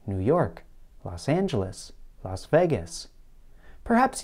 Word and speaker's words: New York: of a place name what would happen if the stress were placed on the first word it might sound something like this new york new york such a pronunciation might